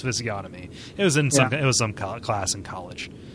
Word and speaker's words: physiognomy: Like I always say physiognomy instead of physiognomy.